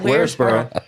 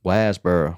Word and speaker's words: Waresboro: Gina And- King's trailer in Is it Waresboro. No, you said it wrong. Wasboro.